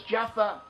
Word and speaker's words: Joppa: Braxton County, where we have a place named Joppa. Joppa is also pronounced as Jaffa. We have Jaffa in modern Hebrew.